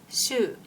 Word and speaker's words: 週: 読み方は週などと読みます。1